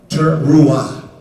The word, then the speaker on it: teruah: call the teruah. That is a battle cry. And that's where we're in. This is what I want to lead you into this afternoon, into the teruah. Teruah. I'll spell it for you.